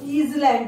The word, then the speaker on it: island: It is not island, it is island, children.